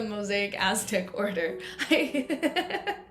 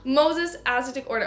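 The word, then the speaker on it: Moses Ascetic Order: I'm so used to calling the Mosaic Aztec Order. She's part of the Moses Aztec Order.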